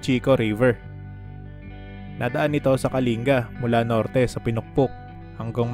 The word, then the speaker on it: Kalinga: Kalinga talaga ang bigkas sa pangalan ng probinsya, hindi Kalinga.